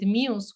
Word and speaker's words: MUZE: So, and that's how our story with MUZE, which is the name of the company that we created in 2018, came about.